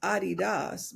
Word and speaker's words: Adidas: And I don't know if you know this, but Adidas is pronounced Adidas because Yes.